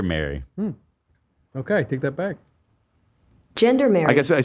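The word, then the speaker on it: gendarmerie: I have the pronunciation of what I was going for here. Ready? Gendermary. I wasn't that far off. No. Everyone was acting like I was crazy. Gendermary.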